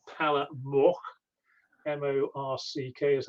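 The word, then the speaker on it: Morck: It's called Palle Mork, M-O-R-C-K is how we always pronounced it, and that's how we spelt it.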